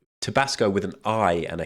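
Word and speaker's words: Tibasko: These people were called Tabasco, but spelt with a K. Tabasco with an I and a K.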